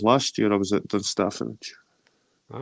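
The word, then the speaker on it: Dunstaffnage: It's Dunstafnage. I was there. I think that was last year. I was at Dunstafnage.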